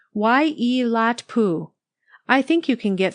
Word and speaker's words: Waiilatpu: It's pronounced Waiilatpu.